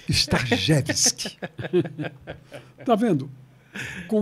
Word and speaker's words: Starzewski: É. Não. Como é o nome? Starjevski. Starjevski.